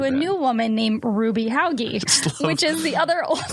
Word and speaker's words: Hauge: It's a Hauge, hoagie, hogue situation, depending on how sophisticated you are.